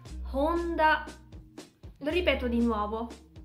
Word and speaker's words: Honda: Ma essendo scritto con l'alfabeto sviluppato dai giapponesi, romaji, non si pronuncia Honda, ma si pronuncia Honda. Lo ripeto di nuovo. Honda.